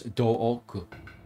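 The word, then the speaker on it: Doku: means poison and also in Japanese they pronounce his name as Dooku which apparently the wiki says sounds like dork in English so they're like we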